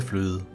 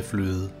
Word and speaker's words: fløde: The sentence is pronounced Rødgrød med fløde.